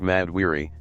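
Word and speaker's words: Mad'Wiry: For Thena, she's the greatest warrior in history, but she's suffering from a degenerative mental illness called Madwyry, pronounced Mad Weary, that makes her unable to distinguish between friend and foe.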